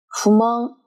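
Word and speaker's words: 不満: 满足、满就是汉语的慢的发音，而不满的满是介于慢和忙之间的发音。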